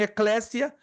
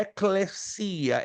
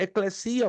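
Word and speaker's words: ἐκκλησία: correta no grego né muitos dizem Eclésia né é a forma aportuguesada abordou ali o nosso irmão Artur mas a pronúncia correta no grego coin é eclesia eclesia ou Eclésia é a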